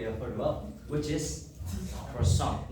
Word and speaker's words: croissant: heard about, which is Croissant. No, not croissant, but we pronounce it as croissant. The French hate us when we pronounce it as croissant. It's not croissant, it's croissant. Croissant.